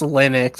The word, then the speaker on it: Linux: then we we say Linux so what is it it's Linux it's definitely been Linux like my whole life you know what I